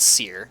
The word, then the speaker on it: Syrr: got accosted by the the the kingdom's called Seir. That's why the campaign is called the tyrant of Seir. I'll spell it out here.